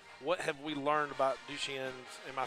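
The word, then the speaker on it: Duchenne: 10 years ago what have we learned about du chien am I saying it correctly yeah you are douche in douche yeah what have we learned medically any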